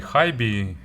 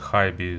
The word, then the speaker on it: HiBy: hibi or high b still not sure about the correct pronunciation probably high b is a proper way so it's model crystal